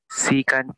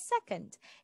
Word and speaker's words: secant: Secant po, ma'am. All right, very good. We have secant, or some pronounce it as second.